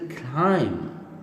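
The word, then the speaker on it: climb: And this is अ क्लाइम, खे लाइम, क्लाइम, इसमें बी नहीं प्रोनाउंस होता है, क्लाइम, क्लाइम।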